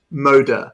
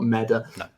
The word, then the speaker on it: Moda: Moda, not Meda.